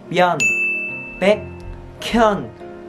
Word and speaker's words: Byun Baekhyun: Các bạn phải đọc là Byun Baekhyun. Các bạn phải nối chữ K lên thành là Byun Baekhyun, Kyun Baekhyun.